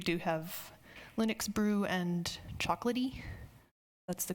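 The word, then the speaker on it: Chocolatey: Mack but we do have Linux brew and chocolaty that's the correct pronunciation this on any of those machines first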